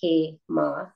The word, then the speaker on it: HMA: spelled h m a if you imagine a why in the middle of that it's literally hey Ma that's how I say my name uh we have Claudia